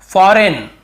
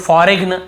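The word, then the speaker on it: foreign: फॉरेन, बहुत से लोग फॉरेग्न ऐसे पढ़ते हैं, मतलब याद रखने के लिए कई लोग ऐसे फॉरेग्न ऐसे बोल देते हैं, लेकिन हमें बोलना नहीं है। लिखते समय हाँ आप गलत पढ़ के लिख सकते हो, लेकिन आदत ना पड़ जाए कहीं आपकी। फॉरेग्न ऐसे नहीं पढ़ने में, फॉरेन पढ़ना, यहाँ पर भी जी साइलेंट है।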